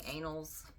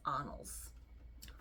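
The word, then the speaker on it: Annals: n n a LS I kept saying anals but it's anals and I won't say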